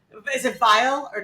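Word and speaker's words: Vial: name you bow out his name is spelled v i a l so I can assure you it's not you have to say it file is it file or not vile.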